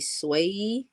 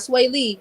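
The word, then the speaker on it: Swavie: the artist is s-w-a-v-i-e swayee i don't wanna pronounce it wrong so it's not sway lee this way you let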